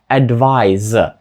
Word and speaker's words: advise: слова advise та Advice і різниця у вимові така сама як була в попередніх словах перше в кінці ніби має літеру з advise друге ж ніби в кінці має літеру S Advice ще раз перше advise друге Advice що вони означають